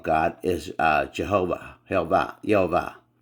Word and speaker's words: Yahweh: YH y uh wh which people say Yahweh and I believe Yahweh was the incorrect uh vowel placement that was put on